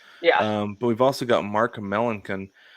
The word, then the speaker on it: Melancon: yeah, But we've also got Mark Melancon. Melanson.